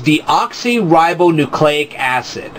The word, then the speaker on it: deoxyribonucleic acid: So I'm going to pronounce it right now. The word is deoxyribonucleic acid.